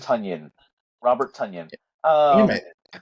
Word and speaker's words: Tonyan: Fun fact, like Funyun with a T. Yeah, Tunyon. Tonyan, Robert Tonyan.